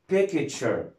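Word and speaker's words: picture: بعد كده عندنا تي يو ار اي، التي يو ار اي مع بعض بيتنطقهم تشر، بيتنطقهم تشر، زي كلمه ها بيكتشر، زي كلمه بيكتشر، كلنا عارفين طبعا ان كلمه بيكتشر يعني صوره.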